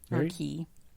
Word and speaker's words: Cay: Cast Away K ah key okay it's spelled Cy a lot of people call it Castaway key but it sounds like K to me but did you know